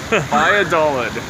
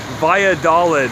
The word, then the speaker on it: Valladolid: Valladolid. Valladolid in the Yucatan Peninsula. The two L's makes a Y sound.